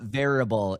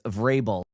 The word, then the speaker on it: Vrabel: It's not variable. It's Vrabel.